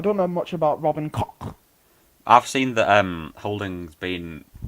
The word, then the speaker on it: Koch: Pronounced Koch, and it's spelled Koch.